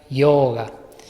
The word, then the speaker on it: yoga: Saben que yoga en la O tiene esa rayita, por lo tanto, la forma correcta de pronunciarlo sería yoga.